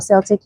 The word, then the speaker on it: Celtic: It's always best to use Himalayan or Celtic or Celtic, and some people pronounce it differently, salt.